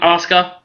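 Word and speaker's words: Asuka: be Paige or Oscar is that how you pronounce her name Oscar yes okay very well Jaime um I'm going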